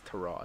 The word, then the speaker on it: Tyrod: Tyrod Taylor went abroad say his name right god damn it it's taraj I did see that